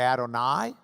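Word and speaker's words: אדוני: You can add I, unless you're Ashkenazi, in which you'd add oi, to the end. And you could say Adonai or Adonai, which means my Lord.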